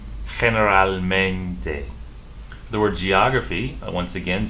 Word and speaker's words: generalmente: So for the word generally in Spanish, you pronounce this G, H, gen, generalmente.